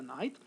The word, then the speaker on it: knight: K plus N, the K is not going to be pronounced, just like knife, okay?